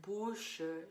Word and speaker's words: bouche: In the word bouche, you're just going to pronounce it bouche.